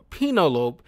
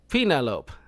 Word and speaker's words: Penelope: the way he kepts mispronouncing it as penolope and nobody bothers to correct him I just you know my brain just immediately like okay just accept it like you know that's not how you pronounce it Penelope Penelope but it was like a